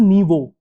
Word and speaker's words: Nyvo: So it's pronounced as Naivo.